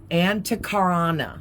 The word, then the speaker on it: Antakarana: This is the Antakarana, I think is how you say it.